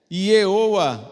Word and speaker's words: Yehowa: Yehowa é a pronúncia de Jeová em hebraico.